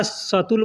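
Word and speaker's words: سطل: अरबी में बाल्टी को 'सटल' या 'शटल' कहते हैं। 'शटल ' की तरह, अलग-अलग क्षेत्रों में लोग इसके सटीक उच्चारण का पालन नहीं करते हैं, इसलिए कुछ लोग इसे 'सैटल' या 'शितल' कहते हैं।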